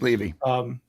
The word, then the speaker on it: Levy: Levy or Levy, I don't know how to pronounce it. It's Levy.